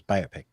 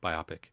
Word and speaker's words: biopic: The short for this is biopic. No, biopic. That's how you pronounce the words.